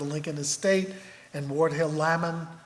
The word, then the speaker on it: Lamon: From Michelle, David Davis, of course, was the executor of the Lincoln estate, and Ward Hill Lamon, rhymes with salmon, as we heard, was his legal circuit friend.